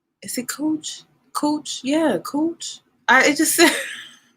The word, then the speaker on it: Cooch: Yeah, Cooch. It just it's so it rhymes with coochie, so it's like, oh, I don't want to offend her, but that's her last name, Cooch.